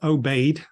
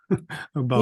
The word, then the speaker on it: Aubade: They mispronounced Aubade. Aubard. Yes.